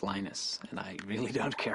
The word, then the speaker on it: Linus: I speak Swedish it seenus when I speak Finnish its Lee knows when I speak English it's Linus and I really don't